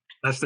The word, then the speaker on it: Leicester: One is in Manchester, and one is in, I'm sure butcher the name. It's Leicester. Leicester.